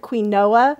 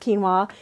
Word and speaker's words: quinoa: UI and Oh a it looks like Queen Noah uh-huh and it's pronounced quinoa it's a whole grain